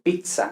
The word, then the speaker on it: pizza: mismo ypsilon lo mismo y luego la zeta que no se pronuncia como la zeta española en este derecho en italiano no existe el sonido z vale no existe el sonido z sino que se lee entonces pues por ejemplo pizza no la famosa pizza